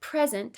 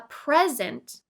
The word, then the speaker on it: present: The word present has 2 syllables that can be broken up and stressed differently. A present is a noun meaning a gift. Present. To present is a verb that means to introduce. Present.